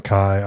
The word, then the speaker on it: Chi: No, it's Chi. Sigma Chi. Good. And then Delta Upsilon. Upsilon. So, Yeah. every time I see Sigma Chi, I think of chai tea, you know?